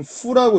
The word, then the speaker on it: 赴: 이건 후라고 읽습니다.